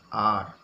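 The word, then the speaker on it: are: जो है शब्द है अर्थ है वो ए आर ई ए आर ई अरी नहीं पढ़ेंगे इसको पढ़ते आर क्या बोलते हैं आर इसका जो हिंदी मीनिंग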